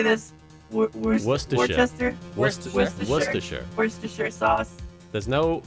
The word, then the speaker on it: Worcestershire: do you say this worcestershire worcestershire sauce there's no you don't pronounce the r it's just wuss the shirt was what's the shirt